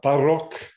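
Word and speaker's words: փառք: So in the word, for example, arel or zorutyans, that's just a flap, whereas in the word parok, that is more strongly trilled.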